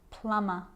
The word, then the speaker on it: plumber: It's always silent when it follows the letter M. Climb, crumb, lamb, thumb, dumb, and plumber. So practice them with me. I'm not pronouncing the B, I'm just pronouncing the M consonant sound.